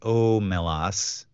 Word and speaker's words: Omelas: Wikipedia lein stated that the Sea's name is pronounced omelas lein hit upon the name of the town